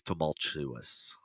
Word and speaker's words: tumultuous: all right um and the word is tumultuous yeah there's no R in Tri vanilla uh